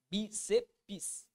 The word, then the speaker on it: bíceps: Mas, professor, quando eu pronuncio, eu falo assim, bíceps. Ou seja, eu deveria ter 3 sílabas. Só que não, meu aluno. Por quê? Porque para que exista sílaba, tem que ter vogal. Se você fizer a separação da palavra bíceps, do modo com que nós somos acostumados a pronunciar, vai ficar assim, ó. Bíceps. Qual que é o problema lá? A última vogal, ela não vai possuir, ou melhor, a última